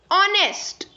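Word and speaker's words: honest: नेक्स्ट इज ऑनेस्ट, ऑनेस्ट, सो जो ऑनेस्ट है, ऑनेस्ट में देखिए एच साइलेंट है और साउंड किसकी आ रही है?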